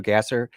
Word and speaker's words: Gasser: It's just Andrew or Andrew Gasser. A N D R G- A S E R. I know it's pronounced Gosser, but it's spelled Gasser.